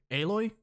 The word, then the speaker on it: Aloy: The main character, her name was Aloy.